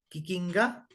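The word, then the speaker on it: kikinka: es uno de los de las palabritas en cambio agudas es decir el acento lleva en la última sílaba en las preguntas sobre todos quiquiná quiquinga quiquinga y tú y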